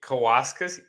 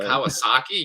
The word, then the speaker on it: Kawasaki: Munenori Kawasaki. You couldn't Kawasaki. Kawasaki. There we go. God. It was just Kawasaki. It wasn't even hard.